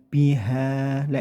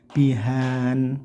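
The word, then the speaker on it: بِهَا: Biha, nah ini ada fathatain dibaca waqaf. Nah, ini yang sering salah, pembacanya seperti kayak gini, bihan, nah dipakai n, tidak ya, tapi biha.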